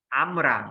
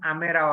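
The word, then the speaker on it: אמרה: Amra, not Amera. Yes, we can pronounce Amera also because yes, Seva will give E sound.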